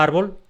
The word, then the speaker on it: árbol: Por ejemplo, la palabra árbol la pronuncio con una fuerza especial en la sílaba ar, la primera sílaba.